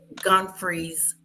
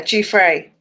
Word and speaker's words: Giuffre: to this interview with Piers Morgan and Virginia's Guthries. If I'm saying it right. Yeah, Giuffre.